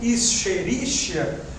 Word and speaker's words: Escherichia: Escreve esquisito assim mesmo, Escherichia, mas eu pronuncio Escherichia.